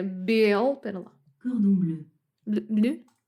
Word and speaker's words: cordon bleu: Cordon bleu. Bleu? Cordon bleu.